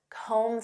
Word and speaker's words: comb: Next, comb through. Do you have time to comb through this report? Do you know what this means? To comb through. And notice that B is silent. Comb. Comb through.